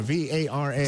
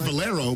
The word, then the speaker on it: Vara: Vara, V-A-R-A. See, I know it's fancy if I can't spell it. Yeah, I know that's right. Not Valero, but Vara.